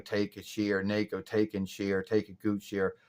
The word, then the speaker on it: Takeuchi: And I don't really know that much about Naoko Takeuchi or Naoko Takeuchi or Takeuchi. Or I like to say it's Takeuchi because that's the way it's spelled.